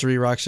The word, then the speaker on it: 3RACHA: It's the reason it's 3RACHA is because in Korean, Suri. Yeah. Ooh. Suri-racha.